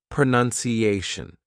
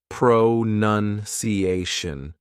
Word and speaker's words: pronunciation: word using front chaining I would say pronunciation I've divided it up here just to make it easier for you to see and hear the syllables this long word happens to have five parts five syllables so it's quite long